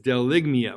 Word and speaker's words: bdelygmia: Number 84 is BDELYGMIA with a silent B. BDELYGMIA is a rant or a string of insulting language, abusive language.